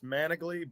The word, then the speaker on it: Manigly: I've heard every pronunciation in the book. It's Manigly, but that's why I said Don and Andre,